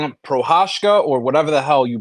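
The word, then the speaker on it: Procházka: Yuri, Jury, and if you're gonna call him Prohashka or whatever the hell you pronounce his last name before that. Yuri. Figure it Yuri out. Prochazka.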